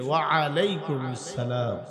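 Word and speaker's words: وعليكم السلام: জবাব দিবেন ওয়ালাইকুম আসসালাম আইনের উচ্চারণ করবেন সুন্দর করে ওয়ালাইকুম আসসালাম মনে থাকবে তো ইনশাআল্লাহ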